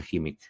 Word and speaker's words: Khimik: ahí está el escuadrón HIMIC, se escribe KHIMIK, y se pronuncia HIMIC.